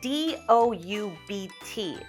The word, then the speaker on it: doubt: don't doubt his words we see d o u BT let's just pretend there is no B and in fact let's replace it with an o w like ow so doubt we don't doubt his